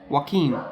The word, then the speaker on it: Joaquin: Joaquin. Oh, is that how you pronounce Yeah, it?